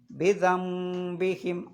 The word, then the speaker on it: بذنبهم: അവിടെ നമ്മൾ ഇംബാസ പറഞ്ഞതുപോലെ എങ്ങനെ ഓതണം? ബിദംബിഹിം. ആ ന് എന്നുള്ള ശബ്ദത്തെ മീമിൻ്റെ ശബ്ദമാക്കി മാറ്റണം. അതിനാണ് ഇഖ്ലാബ് എന്ന് പറയുന്നത്.